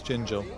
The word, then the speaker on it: Gingell: It's Gingell. You asked someone, I asked Colin just a moment ago, how do you pronounce it?